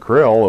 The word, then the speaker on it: Kirill: Patriarch Kirill (pronounce it like k' RILL) of the Russian Orthodox Church had scheduled his own New World visit to coincide with that of the Pope.